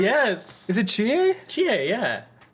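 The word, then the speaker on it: Chie: think it smells differently even no her name's Chia which one is GA the Green Jacket girl that does calling Foo and eats food it's spelled cheese yeah it's Chia it's c-h-i-e because everyone she's mid she's like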